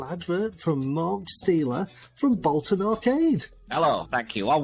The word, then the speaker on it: Bolton: you pronounce bolton bolton yeah so bolt on just sounds like you've got your emphasis wrong sounds like it sounds